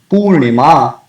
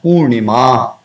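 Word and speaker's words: पूर्णिमा: If it is written Purnima, it has to be pronounced Purnima. It cannot be Purnim.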